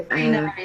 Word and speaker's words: Shrinari: And I'm just hoping I've pronounced that properly. Shrinari, that's good.